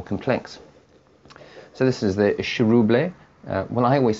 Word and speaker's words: Chiroubles: was saying to me, it's a Chiroubles. But I don't know, it sounds a little bit too much like Chernobyl for me, so I'm going to stick to having the little accent on the E.